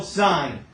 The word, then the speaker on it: sine: abbreviation for it but because it's abbreviated you're tempted to say it wrong so when I see this right here you still say son right I know it's tempting right to say differently this is still sine so what is that